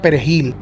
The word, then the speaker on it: perejil: por el hecho de pronunciar bien o no la palabra perejil lo cual para los haitianos era muy difícil debido a que tienen el francés y el dialecto creó como idiomas oficiales y en estos el pronunciamiento suave de la letra r está prácticamente en desuso